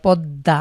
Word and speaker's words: পদ্মা: উচ্চারণ করি যেমন পদ্মা পদ্দা একটি নদীর নাম আমরা পদ্মা দ এর নিচে ম ফালা রয়েছে কিন্তু আমরা দ কে দুইবার উচ্চারণ করছি ঠিক একই রকম আরবিতে